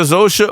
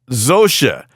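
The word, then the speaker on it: Zosia: And on Monday, actor Zosha. Oh, Zosa. Damn it, another pronouncer. Zosa.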